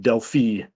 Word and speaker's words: Delphi: He says he's British American and he pronounces it Delphi.